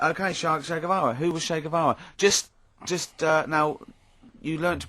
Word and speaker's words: Che Guevara: Che is like shake, and his surname is like guitar. Right. Guevara.